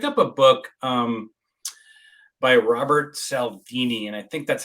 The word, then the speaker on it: Cialdini: I picked up a book by Robert Cialdini, and I think that's how you pronounce his last name. And it's the psychology. Cialdini. There you go. Yeah, Cialdini.